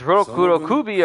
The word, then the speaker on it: rokurokubi: magatama i'd say magatama or i don't say roku rokubi i just say rokurokubi i tend to roll